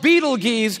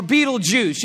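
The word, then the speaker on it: Betelgeuse: heard about this star it's called beetle geese or beetlejuice you can pick your pronunciation i'm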